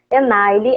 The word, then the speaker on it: Enaile: Me ajuda a pronunciar seu Enaile. nome. Enaile.